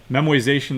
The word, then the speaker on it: memoization: And now when you're actually using memoization, by the way, memoization, that is not a misspelling, that is not a mispronunciation, that's what they call it.